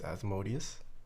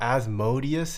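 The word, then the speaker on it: Asmodee: Oh, I didn't know you ran a business, Asmodeus. Oh, shh. What is Heckheim Design? Oh, Helheim Designs. Oh. I'm stupid. Not Asmodeus, it's Asmode.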